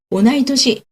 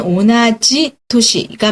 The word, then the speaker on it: 同い年: 오나이토시, 오나지다라고 하는 거는요, 동일하다, 같다라고 하는 건데요. 원래 문법대로 하면 오나지토시가 맞는데 동갑일 때만 이렇게 약간 바뀌죠, 발음이. 소리스는 선생님.